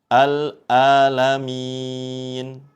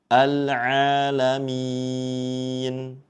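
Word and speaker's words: العالمين: ain jangan sampai tertukar dengan huruf hamzah ya, alamin seperti itu. Atau yang perlu kita hindari jangan sampai membacanya seperti ee bunyi eng ya. Rabbil alamin seperti itu. Namun yang betul kita usahakan ya pengucapannya dengan jelas huruf ainnya seperti itu.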